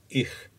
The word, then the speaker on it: ich: Listen carefully to how the native pronounces ich. Ich is produced in the same area of your mouth as for the K sound. Notice that the flow of air stops as you produce a K sound.